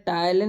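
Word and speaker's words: ptyalin: में जहां टाइलन इसमें टाइलन में क्या होता है कि पी साइलेंट होता जब टाइलन की हम लोग स्पेलिंग लिखेंगे तो पी टी वाई एल आई एन रहता है बट पी साइलेंट रहता है टाइलिन अथवा एमाइज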